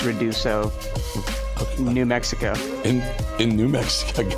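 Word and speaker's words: Ruidoso: It's Reduso, New Mexico.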